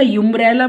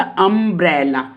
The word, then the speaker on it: umbrella: तो ये इस यू को मैंने यू बोला, इसको भी मैंने बोला यूम्ब्रेला बोला मैंने? नो ना, मैंने क्या बोला? अम्ब्रेला, नॉट यूम्ब्रेला।